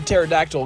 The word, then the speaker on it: pterodactyl: can't you hear a pterodactyl go to the bathroom cuz the p is silent have another great day